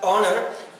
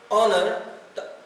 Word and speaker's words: honor: कंदा आहिनि, but if we know the correct pronunciation is honor, then we will come to know that we will use N. So it is honor, ये vowel sound है, N एक यूज करना सी N honor, ठीक है?